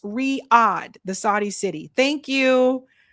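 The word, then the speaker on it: Riyadh: Uh, Sabi pronounced Riad, the Saudi city.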